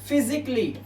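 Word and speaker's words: physically: फिजिकली नहीं पढ़ना है ये सी ए डबल एल वाई को आप कल ही नहीं पढ़ेंगे आप इसे पढ़ेंगे क्ली क्ली तो इसे क्या पढ़ेंगे? फिजिकली फिजिकली फिजिकली जिसका मतलब होता है शारीरिक रूप से।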